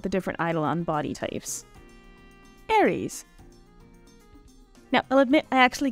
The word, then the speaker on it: Aries: more adventurous about the different idolon body types Aries now I'll admit I actually Googled the correct pronunciation of his name because I've been calling him Aris for a long time but anyway as the